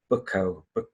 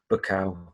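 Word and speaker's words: Buckow: won't be able to say it properly, it's Bukow, B-U-C-K-O-W, Bukow.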